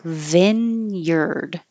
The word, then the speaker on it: vineyard: This looks like vineyard, but we change it and it sounds like vineyard. So instead of I, it's I, like hit, and instead of yard, it's yard, vineyard.